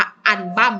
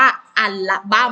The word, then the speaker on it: อัลบั้ม: อา อัน ลบั้ม นี่ ไม่ ได้ อ่าน ว่า อัน บั้ม นะ ลูก คำ นี้ อ่าน ว่า อัลบั้ม ลูก ค้า คำ ว่า